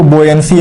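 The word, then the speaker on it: buoyancy: और एक आता है आपका बेयंसी और बेयंट फोर्स। बहुत लोग इसको बोयंसी और बोयंट फोर्स भी कहते हैं, but that is not correct pronunciation. बेयंसी एंड बेयंट force.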